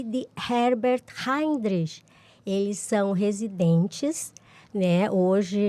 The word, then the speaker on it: Heinrich: Bom, Anne, agora eu tô tentando pronunciar o nome do meio. Heinrich. É complicado. Heinrich. Anne Heinrich Sanders.